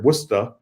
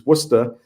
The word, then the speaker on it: Worcester: years I've been in Worcester Massachusetts which is pronounced here wora w even though it's spelled like Worchester like like in England it's it's wora and it's about it's right in the center